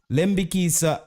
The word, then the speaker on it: Lembikisa: lamborghinisa uh lambiki so somebody say oh a lembi we need to pronounce it lembikisa I think human um